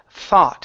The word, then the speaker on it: thought: Instead of thought, this is an ah sound in the middle. Thought. Thought. Okay, pronounce a T instead of a K. You're saying thought. It's thought. Thought. Okay, with a T.